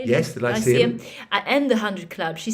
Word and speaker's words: Lyceum: Yes, the Lyceum.